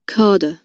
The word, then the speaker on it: cadre: cadre, cadre, cadre, তাহলে আমরা যে মানে বিসিএস বিসিএস ক্যাডার ক্যাডার বলে বলে একবারে ফেটে ফেলাই, তাহলে দেখো 100% ভুল। রাইট প্রোনাউন্সিয়েশন খা। Carder. Carder. Carder.